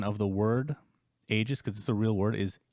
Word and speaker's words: Aegis: a bit of a rant but the actual pronunciation of the word ages because the real word is Aegis okay it's